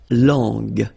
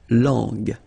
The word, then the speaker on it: langue: So you get to put this U between the two to get the sound G, G. So you get la langue, langue.